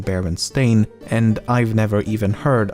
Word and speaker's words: Berenstain: anthropomorphic bears however many remember the name as berenstein and not baron stain i also find it